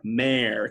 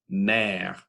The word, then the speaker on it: mère: People make the mistake of thinking that's like a père, mère kind of sound. But if you really listen to the pure French pronunciation, it's p, e, e, r, père, m, mère.